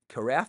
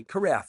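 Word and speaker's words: carafe: metal uh the glass uh carf it's called not a Cara right the drip the drip guy kff right kff that's the right way to say it I wasn't sure if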